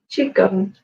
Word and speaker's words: qigong: we want and Jong everyone's Unsure how to pronounce it so it's ch gun but it really doesn't